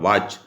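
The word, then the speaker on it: watch: इसी प्रकार से विद्यार्थियों साइलेंट लेटर का एक प्रश्न आता है, 26 नंबर में पूछा इज the silent letter of वॉच, टी इसमें विद्यार्थियों सही है।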